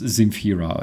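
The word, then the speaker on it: Земфира: She can call herself Zemfira like in Deutsch, all right? In Deutsch, she can literally write her name starting with the S, all right? She will be still pronounced as Zemfira anyways, which, by the way, is a good solution.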